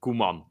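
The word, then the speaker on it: Koeman: it's weird even it's Kuman that's how you say it yeah K sounds like an ingredi just say it yeah literally it sounds like a spice that you put on something but uh but no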